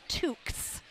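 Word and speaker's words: toque: a well yeah okay it spelled like toes yep but t o u q es really oh that is that's like almost like a torque well then I guess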